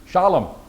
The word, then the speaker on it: Shallum: So our question is, who is Shallum? Accent on the first. Some have it. I never see it on the last. I wish it was Shalom. That would be a pretty name. Shallum.